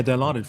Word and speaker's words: Dilaudid: that was just the ethical the ethicalness of Dilaudid or am I saying it right yeah Dilaudid for sure is a very strong narcotic so